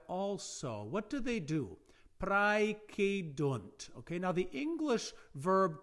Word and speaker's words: praecedunt: Remember that if you want to find an English derivative, if you have the diphthong ae, pronounced in classical times as I, praecedunt, if you take away